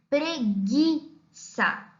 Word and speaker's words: preguiça: repita o próprio fígado preguiça Gui Observe que nós não pronunciamos a vogal u porque pro feriado Porque